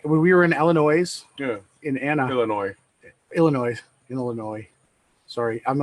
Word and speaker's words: Illinois: and oh no every everybody gets Illinois because that's the way you would say it if you read it the way it's spelled but it's just it's Illinois Illinois so yeah there were